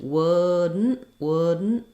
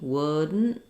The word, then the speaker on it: wouldn't: So wouldn't, the trick is that I don't release that D. The letters OU have the sound, like in good or book or push. The D is unreleased, wouldn't. So what I do is I basically go up to make the D and then I release right into the N. That's called a syllabic N.